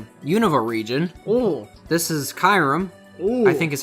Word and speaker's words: Kyurem: This is Kyurem. Ooh. I think is how you pronounce it.